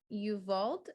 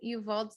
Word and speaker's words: Uvalde: an active shooting at an elementary school in Uvalde, I think is how you pronounce it, Uvalde, Texas.